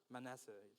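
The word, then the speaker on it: Manasseh: My clan is the weakest in Manisey." Is that how you pronounce it? Manessa.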